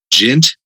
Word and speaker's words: djent: I don't even think he has a band right now, but my friend Josh Orsch, he plays Gent, and I really like his lyrics and the music that he comes up with.